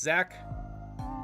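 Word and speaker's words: Zak: It's just Zach. Z-A-K. That's how I pronounce it.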